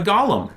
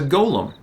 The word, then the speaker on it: Golem: to is a Golem it's not a Gollum it's a Golem and it's all over